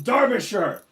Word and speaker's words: Derbyshire: proper job oh you mean sexist but from Derbyshire notice I pronounced it correctly so I'm the authentic thing